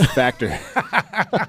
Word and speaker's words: Factur: Or yeah, you definitely messed it up. It's Factur.